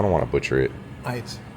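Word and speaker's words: Aydt: Height. Ait.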